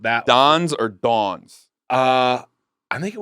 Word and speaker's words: Don's: only closed not that Don's or Dawn's? I think it was. Are you pronouncing it that way? Is it Don, like Dawn, or is it Dawn, like a female named Dawn? D-O-N, Don.